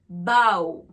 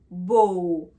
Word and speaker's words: bow: Donc le verbe a le son AO. Le mot a le son O.